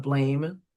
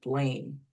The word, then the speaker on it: blame: So if they say blam instead of blame, you ask them is there an e at the end. You ask them if this one um is long. If this sound is long or short because there's an e at the end, it would be long.